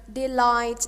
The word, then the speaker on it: delight: The GHT is a consonant cluster, but the letters G and H are silent letters. Silent letters mean that we do not pronounce them. So that's why we say delight and not delight or any other pronunciation.